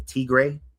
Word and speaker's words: Tigray: during and you can correct me, but the Tigray, is that how you say it? Tigray War?